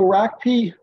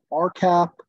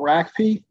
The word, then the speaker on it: RACP: Redevelopment assistance Capital program you'll hear people call it arcap rackie or other butchered names um I call it rackie so so uh I hope you can all agree today to to listen to that uh pronunciation of it so the ragby program